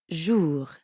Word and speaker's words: jour: Notice how the J in bonjour sounds a lot like the middle of the English word measure? Je. Je. Bonjour. And the R at the end of jour doesn't really sound like an English R. You should feel that R in your throat. Jour. Yeah, almost like you're gargling or clearing your throat.